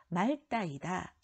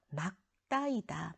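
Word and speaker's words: 맑다: 자, 그 다음에 3번 이것의 정확한 발음은 말따이다. 틀렸어요. 리을 기역, 리을 미음, 리을 피음은 뒤에 것을 소리낸다고 했어요. 막다이다, 막다이다. 그런데 막다에 활용할 때 개로, 기역으로 시작하는 어미가 붙는 경우에는 리을로 발음한다고 했죠. 막다라고 발음하지만 맑고, 하늘이 맑게 개었다. 고나 개가 연결될 때는 앞에 있는 것이 발음된다고 했어요. 리을 기역이, 어간의 리을 기역이. 그래서 답은 자 X예요. 막다라고 읽어야 된다.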